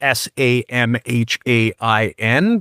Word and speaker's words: Samhain: I would suspect that if you ever were to Google Samhain, and that's spelled Samhain, but pronounced Samhain, you'll find all kinds of stuff,